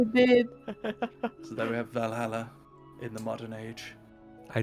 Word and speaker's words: Valhalla: I was always told that Valhalla is where all the great warriors go. I like how I pronounce it the Swedish way instead of the English way.